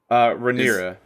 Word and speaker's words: Rhaenyra: with Lena, when his daughter, how do you pronounce her name? Is it is Rhaenyra.